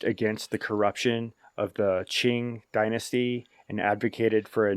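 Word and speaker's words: Qing: up the cor correct pronunciation and it's actually Ching Dynasty it's spelled q i n so I was mis mispronouncing the word but it's Ching anyway the Ching Dynasty is significantly weakened by the typing Rebellion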